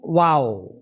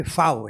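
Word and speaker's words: vav: Anam itu wau ya. Tapi kalau terjemahan apa ee kalau sekarang mereka bukan bilang wau tapi faw ya.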